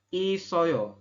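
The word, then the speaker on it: 있어요: Isoyo ini ya, tulisannya it oyo ya, kita bacanya adalah isoyo, artinya ada teman-teman ya.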